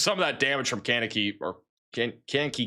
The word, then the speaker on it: Kankakee: All right, apparently it's Kankakee.